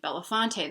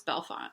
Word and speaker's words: Bellefonte: Dubois Pennsylvania and then also near me is Bellefonte which you might think Belafonte then if you're gonna say Dubois maybe Belafonte but no it's Bellefonte so it's tricky I'm doing